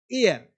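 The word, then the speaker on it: heir: Hours hours आ है इसे horror नहीं बोलते हॉर्नर नहीं बोलते हियर नहीं बोलते बोलते हैं आर ऑनर एयर अब देखो आवर घंटा ऑनर इज्जत समान एयर मतलब उत्तराधिकारी यहां पे एच जो है वो साइलेंट है एच का प्रोनंसिएशन नहीं होता है यह ध्यान देना है साइलेंट रहता है।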